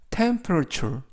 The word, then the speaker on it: temperature: 그 연주회는 9시의 시작이야라는 뜻이 되겠습니다 이번 표현은 temperature temperature temperature라고 발음하시면 되겠고요 발음이 약간 어렵습니다 강세를 알려 드리면